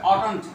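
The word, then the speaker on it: oughtn't: নেগেটিভের জন্য একটা নট সংক্ষিপ্ত অটন্ট, উচ্চারণ হবে অটন্ট ইউ।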